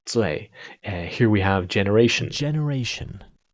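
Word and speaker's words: 罪: this is actually pronounced Zui. So it's actually it rhymes with Fei, let's say.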